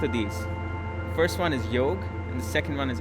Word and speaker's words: yoga: word and i say yog because it's it's yo it's not yoga the a is actually more of an uh sound it just um you know elongates the g the last syllable of